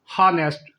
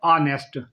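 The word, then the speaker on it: honest: दूसरा लफज अक्सर लोग जो बोलते हैं वो हनेस्ट। हालांकि जो इसकी असल प्रोनाउंसिएशन है वो है ऑनेस्ट।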